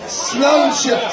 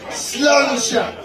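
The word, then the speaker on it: sláinte: You say sluncha. Say it with me. Sluncha.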